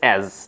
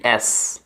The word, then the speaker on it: as: অ্যাজটা নিয়ে, অর্থাৎ AS অ্যাজ, এটাকে আমরা অনেকে ভুল উচ্চারণ করে থাকি অ্যাস, AS আসলে অ্যাস নয়, ASকে আমরা বলবো অ্যাজ, জ সাউন্ড করতে হবে অ্যাজ।